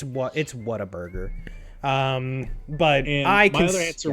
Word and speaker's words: Whataburger: I think that's pronounced. Like, I think it's Waterburger. That's what. No, it's a Whataburger. Don't be like that. That's for Nick. I called it Waterburger for like the first like 8 years of my life.